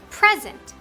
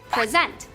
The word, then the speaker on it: present: When we stress the first E in the word, it's pronounced present. But when we stress the second E in the word, it's pronounced present.